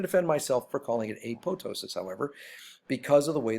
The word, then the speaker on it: apoptosis: now notice you look at acknowledge should be pronounced apoptosis many people do a lot of professional scientists